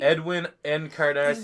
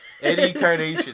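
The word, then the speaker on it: Edwin Encarnación: Edwin Encarnacion. That's what it is, yeah. Eddie Carnation. There we go. Okay, but I still sort of knew. Not how you. Nope. Not how you say his name.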